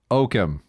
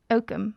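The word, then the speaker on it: Oakham: from a small town called oatham can you spell that o-a-k-h-a-m okam okum okay so you went from okum yep to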